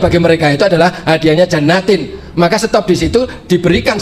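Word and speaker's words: جَنَّاتٍ: Maka bacanya jannatin. Nasabnya bukan jannatan tapi jannatin.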